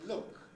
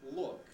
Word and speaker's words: look: So I say look, and not look. Look would be a Bulgarian or whatever mispronunciation. It's look with a clear L.